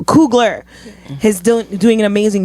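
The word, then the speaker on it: Coogler: blade amazing yes Ryan couly I'm saying his name wrong so cougler is doing doing an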